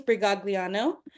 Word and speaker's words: Brigagliano: Today's speakers for this particular topic is James Brigagliano.